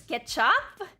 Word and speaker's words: kecap: is sweet soy sauce the c is pronounced ch so it's ketchup it's ketchup monies i